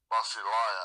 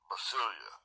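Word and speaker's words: βασιλεία: I've told you before, is Basileia, I think is the way they pronounce it. They used to pronounce it Basilia, okay? Blue letter says, I think it's Basileia is the way they pronounce it, okay?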